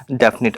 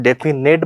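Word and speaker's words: definite: हो जाती है बेटा, डेफिनेट। अच्छा इसको ध्यान रखिएगा, बहुत सारे इसकी स्पेलिंग में गलती करते हैं, डेफिनेट बोलते हैं, डेफिनेट नहीं होकर इट इज़ डेफिनिट होगा, और डेफिनेट से ही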